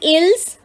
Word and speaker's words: ils: Written as ils but pronounced as il, masculine.